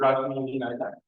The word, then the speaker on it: Rashmi Vinayak: It's a pleasure for us to, in the IMC seminar, to have today Professor Rashmi Vinayak. Did I pronounce it correctly?